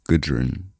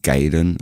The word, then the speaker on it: Gudrun: He pronounced it as like Gaiden or something rather than Gudrun.